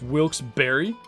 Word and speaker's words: Wilkes-Barre: Ugh, it's pronounced Wilkes-Barre.